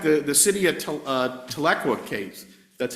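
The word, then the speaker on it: Tahlequah: In fact, the the city of uh Tlequa case, that's how you pronounce that.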